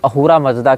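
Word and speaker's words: अहुर मज़्दा: अब ये स को ह पढ़ते हैं। फारसी सकार का उच्चारण हकार के रूप में करते हैं। इसीलिए अहूरा को आप असुर भी कह सकते हैं।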